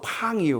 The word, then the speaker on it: pain: 맞죠 스펠링 맞나 pain 그래서 프랑스어로 팡이에요 그래서 그때 제가 알았던이